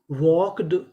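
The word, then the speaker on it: walked: डब्ल्यू एल के वॉक यहां पे जो हमारा एल है वो भी साइलेंट रहेगा इसका भी उच्चारण नहीं करना तो मीनिंग बनी वॉक्ड वॉक्ड वॉक्ड का मतलब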